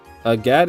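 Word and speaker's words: Agate: A gat is how you say it.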